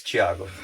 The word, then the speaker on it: Tiago: it Thiago because it's easier for people to pronounce but it's Thiago that's how you say it awesome well thanks